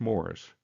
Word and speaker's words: Maurice: His name is Morris Hackler, spelled like Maurice, but pronounced Morris.